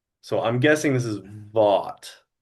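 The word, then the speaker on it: Vought: Like the T is silent. Well, over the last three days, I've heard his name a lot and it's and they keep saying vote.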